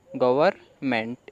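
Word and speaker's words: government: तो पूरा क्या बना गवर्नमेंट इसमें एन है वह साइलेंट है लांच प्लान फॉर बुलेट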